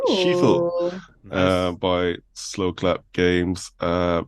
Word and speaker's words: Sifu: For me, number 2 would be a game that hasn't actually been mentioned in this episode, and that is the game called Sifu, pronounced Shifu, Nice.